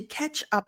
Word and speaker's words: catch up: up on so catchup it does sound like the sauce the tomato sauce ketchup so it's not C but k k ketchup the t is the TCH just sounds like a ch ch ketchup catchup on and let's